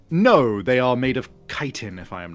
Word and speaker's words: chitin: Also, yeah, I'm pretty sure it is chitin as opposed to chitin. Oh, it's for sure chitin. Yeah, it's chitin.